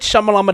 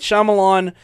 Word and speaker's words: Shyamalan: yeah, this is our buddy M. Night Shyamalama Ding Dong. That's not how you pronounce that, actually.